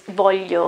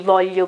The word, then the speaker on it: voglio: It's not L, it's not an L, no, it's not the E, it's not, like in this case, voglio, okay, which is ti voglio bene, I care about you. It's not voglio, no, it's wrong. It's not voglio, no, also not. You have to put your tongue, okay, to make your tongue larger and to put the two sides of your tongue, okay, between your back teeth, and then try to